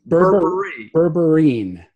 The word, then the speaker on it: berberine: is called Berber yet Berber e-naught or bring berberine berberine ayan spell it BER BER ine burring burring gotcha and